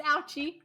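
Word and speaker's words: Auchi: That's how it's pronounced, Ouchie.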